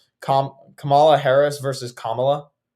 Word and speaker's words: Kamala: Joe Biden is in the pocket of the teachers union, and so is Kamala Harris. That's why they fought school openings when he came in there. It's Kamala. Kamala Harris versus Kamala.